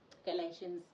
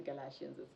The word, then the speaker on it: Galatians: in particular would be Galatians Galatians or galatian you know we have different ways to pronounce words so I'm going to stick to Galatians it's clear everybody can